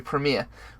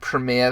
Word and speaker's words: Premiere: Now, many YouTubers also use Adobe Premiere, which is I don't know why I said Premiere. That's how Americans say it. Adobe Premiere.